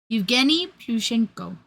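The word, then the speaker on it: Plushenko: Um, but this individual became one of the Edini pushenoi pushenko.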